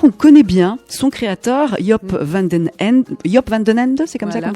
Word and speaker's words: Joop van den Ende: Alors sans le savoir, on connaît bien son créateur, Joop van den Ende, c'est comme ça qu'on prononce?